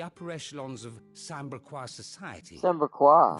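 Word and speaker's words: Sanbreque: As unlikely as it may seem, there are those within the upper echelons of Samberquois society Samberquois, who find that's the how you say it.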